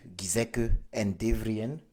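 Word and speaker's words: Giesecke+Devrient: Donc, Gizek en Devrien, ça s'écrit Giesecke, plus maintenant Devrien qui est Devrient, une société basée à Munich.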